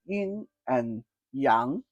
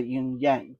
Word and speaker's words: yin and yang: Number two elements to understand with regarding to fun is to understand y in and yang. I know some people say y in yang but the proper pronunciation yin and yang.